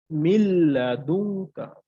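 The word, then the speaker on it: مِن لَّدُنكَ: পর আমার লাম আসছে সো আমাকে গুন্না ছাড়া মিলিয়ে পড়তে হবে উচ্চারণটা করবো মিল্লাদুনকা মিল্লাদুনকা এরপর হবে না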